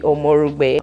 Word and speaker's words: Omorogbe: And I was like, I pronounce it properly. Well, my name is Omorogbe.